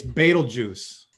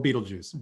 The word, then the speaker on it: Betelgeuse: goose i've heard this is probably the most mispronounced star name so it's betel juice or beetlejuice betelgeuse but i guess somebody has to know the